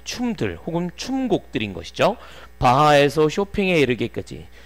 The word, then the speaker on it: Chopin: 바하에서 쇼팽에 이르기까지. 쇼핑 아니고 쇼팽. 오케이? 발음 이상하지. 원래 이상하게 생겼잖아.